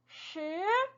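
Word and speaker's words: 十: 하시면 되고 어떻게 돼요 동굴 소리죠 혀를 말아서 입안에 동굴을 만들어서내는 소리 슈 슈 이렇게 소리가나요 다시 한번 4 쓰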